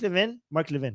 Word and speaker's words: Levin: Is it Levin or Levin? Okay, Mark Levin. Yes, that's how you say it.